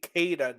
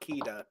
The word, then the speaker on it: Keita: I learned it's actually Keita, not Kita.